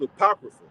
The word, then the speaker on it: apocrypha: So that's pronounced apocrypha. Apocrypha means to send away hidden.